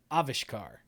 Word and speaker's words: Avishkar: the name to uh avishkar avishkar yeah emphasis is on the first uh offish car yeah so that's why